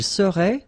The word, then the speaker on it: serait: Il serait, final T not pronounced.